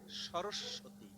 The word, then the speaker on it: সরস্বতী: দেখেন, সরস্বতী, আমরা কিন্তু প্রথম সব বর্ণকে দ্বিত্ব উচ্চারণ করি না, পরেরটা করি। এখন পরেরটায় যদি দুটো স হতো তাহলে এক কথা, কিন্তু উচ্চারণ করি দুটো স, কিন্তু দেব ব ফলা।